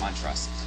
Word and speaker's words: Montrose: Montrose. Did I pronounce your name correctly? My mother and father pronounce it differently, so that's fine. How do you pronounce it? Montrose.